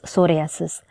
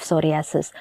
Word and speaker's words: psoriasis: to remember it easily p is silent in the word psoriasis so proximal interference joint